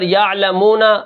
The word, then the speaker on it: یعلمون: ہے۔ اب یہاں پر یعلمون وقفن یعلمون، بیچ میں جو واو ہے یہ واو مدہ ہے، ٹھیک ہے، واو ساکن ہے، اس سے پہلے پیش آ گئی۔ آگے جو ہمارا کلمہ